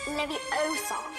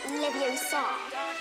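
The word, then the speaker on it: Leviosa: to take some fire you're saying it wrong it's Lev Oar not leev Oar you do it if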